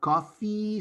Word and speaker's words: coffee: You're asking for a cough, not a coffee. Okay? So be careful. What we drink is coffee.